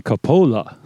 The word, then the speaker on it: Coppola: But in Italian, it should be Coppola. right? It's always the second to last syllable.